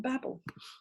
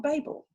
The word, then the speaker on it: babble: opening and closing syllables so that's the difference between Abel and babble do you see it's not able and it's not Babel double letters have a